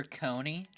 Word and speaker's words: Coney: I'm gonna call her Coney, like the name Connie.